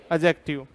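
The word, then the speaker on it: adjective: हाँ भाई, पहला नाउन, दूसरा प्रोनाउन, तीसरा एडजेक्टिव, चौथा फिर। अब इसमें कई कलाकारी कर देंगे सर, अब नहीं है। मैंने कहा ए और जे के बीच में डी है वो साइलेंट रखना है।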